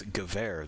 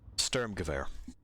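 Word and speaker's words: Sturmgewehr: sturm gewehr uh yeah i was mispronouncing it earlier it's gewehr this is this is gewehr uh spelling particularly english spelling is ridiculous and english spelling of non-english words is worse sturm gevare so there you go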